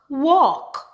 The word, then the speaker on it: walk: If we have the combination ALM, ALF, and ALK, typically the L in the word is silent.